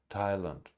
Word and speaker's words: Thailand: Teresa Teresa Teresa Teresa Teresa Teresa Theresa Theresa Thailand Thailand terms Esther Esther Esther Esther Esther Esther